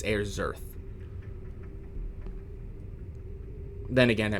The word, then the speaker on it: Ayrserth: It's Ayrserth. Then again, I Like mean, air in birth, but with a Z instead of a B.